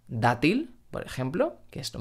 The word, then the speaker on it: dátil: y mucho menos v&v otro consejo muy importante es no pronunciar la d del español como una d del inglés por ejemplo a gates o ar hay día en español tenemos la palabra dátil por ejemplo que es